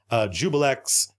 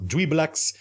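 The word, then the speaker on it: Juiblex: of the character I think Vecna Vecna Tiamat jubal X who I pronounced incorrectly it supposed we blacks but I like Jubal X better and I'm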